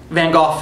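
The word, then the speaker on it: Van Gogh: the guy who played van go Tony Karan um van goof sorry pronounce it properly just pronounce it with the proper Scottish accent yeah blew me away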